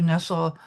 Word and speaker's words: Nessel: Nessel, and she doesn't pronounce her name Nestle, Nessel.